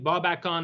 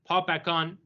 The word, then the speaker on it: Babakan: And it reemerges through the conquests of this character Ardashir Babakan, Ardashir Babakan, or Babakan, it's pronounced both ways. The B's and the P's, yeah.